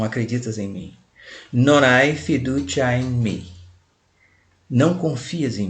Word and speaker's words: fiducia: Fiducia, esse C aqui em italiano, é como se fosse em português um TCH, ti.